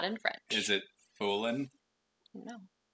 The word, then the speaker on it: Fulenn: Is it Fulenn? No. It's Fulenn. Fulenn. I don't know how to pronounce Breton.